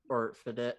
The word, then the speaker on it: bidet: Bidets or bidet. What's it called? Bidet. Bidet. T is silent.